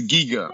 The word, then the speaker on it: Giga: you guys say it it's a giga you know like yeah yeah like a geek yeah yeah if you